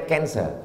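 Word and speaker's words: cancer: darah menggumpal-menggumpal menjadi kser tulisannya c a n c e r orang barat membacanya kanser orang kita susah menyebut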